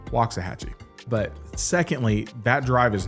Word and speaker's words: Waxahachie: And I was like, well, first of all, said it wrong, Waxahachie.